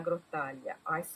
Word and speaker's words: Grottaglia: And it's illustrated by Jenna de la Grottaglia. I pronounce it in the Italian way, but it's probably de la Grottaglia in English.